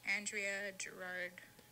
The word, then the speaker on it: Andrea: sent me a voice my name you pronounce it just Andrea see a druid yard